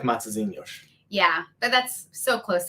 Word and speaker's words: Matosinhos: Matosinhos.